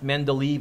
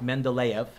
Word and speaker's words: Mendeleev: make sure i spell it right it's not pronounced men to leave it's pronounced mendeleev russian scientist he worked on it for a